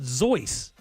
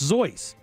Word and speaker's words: Seuss: name is actually pronounced zoy right it's the German pronunciation of what you see as Seuss but it's pronounced zoy but he and he